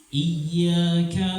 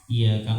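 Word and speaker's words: إِيَّاكَ: dari tau tauhid dan membacanya harus ditekan. Bapak, Ibu sekalian, iyaka na'budu wa iyaka nasta'inya hanya kepadamu. Tapi kalau sudah ditekan, iyaka na'budu wa iyaka nasta'in artinya kepada matahari kami menyembah dan kepada matahari kita minta tolong.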